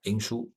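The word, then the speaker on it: 灵枢: Chinese pronunciation is Ling Shu.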